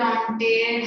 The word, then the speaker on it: entente: And Triple Entente had Britain, Russia, and France. Britain, Russia, and France. How to pronounce that word? Ottoman. Triple entity. That is what entente.